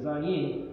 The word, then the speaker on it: Zayin: And this happens to be in Hebrew the letter Zion, pronounced with a Z. And as we mentioned last week, this is, you might say it's spelled phonetically Zayin, whereas the word Mount